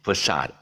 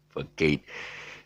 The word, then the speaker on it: facade: false front or whatever it's facade f-a-s-h-a-d or whatever okay that's the pronunciation and don't please pronounce this don't ever pronounce this as for kate anyway the time is